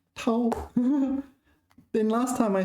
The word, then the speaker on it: 掏: Tao is first tone, is it? Tao.